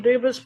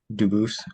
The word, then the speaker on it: Dubus: Dubis present. Dubis. I am Dubus. Um, Dubis is the English pronunciation. Dubus is the original French and I am appearing specially in propriia persona, not prosay as sujis.